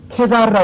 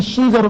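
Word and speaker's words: Caesar: 그것은 우리가 케사르라고 하잖아요. 카이사가 영어의 라틴어의 케사르인데 그것을 영어로 발음하면 시저로 발음이 되잖아요.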